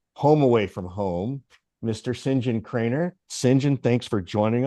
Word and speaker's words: St John: I mean, we're friends, but I get called all kinds of names, but Sinjin works fine. Yeah, I was gonna, it is spelled ST John John, and Yeah.